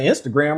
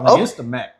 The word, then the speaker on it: Instagram: I was pronouncing Instagram wrong for a little while. Instamac.